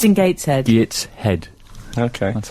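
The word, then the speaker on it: Gateshead: I'd where is he it's in Gates head Gates head okay that's how you say it he and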